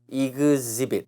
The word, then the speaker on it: exhibit: 이거 발음이 exhibit. H는 다 묵음이에요. exhibit, exhibition.